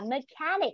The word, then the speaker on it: mechanic: Nhớ trọng âm vào mechanic con nhá. Trọng âm vào âm tiết số 2.